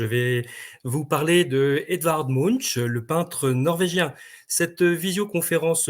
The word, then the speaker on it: Munch: tout de suite hein je vais prononcer le nom à la française Munch sachant qu'en norvégien c'est plutôt Monk que l'on dit hein mais voilà le